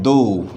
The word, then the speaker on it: though: इस THOUGH का जो प्रोनाउंसिएशन होता है वो होता है दो। दो इज़ द प्रोनाउंसिएशन। जैसे हिंदी में होता है एक, दो, तो इसका जो प्रोनाउंसिएशन है वो भी दो है।